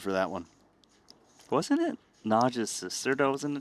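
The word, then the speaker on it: Nagy: What I've been told and and I was told this by llosh that it's just difficult for English speakers to pronounce naj the Hungarian way. So, he said najge is sufficient, but uh you know,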